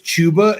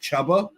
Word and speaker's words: Chuba: I found out that the dude's name was chuba and not chubba oh tuber Hubbert sorry